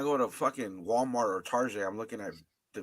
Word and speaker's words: Target: Target.